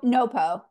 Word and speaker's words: NoPo: NoPo.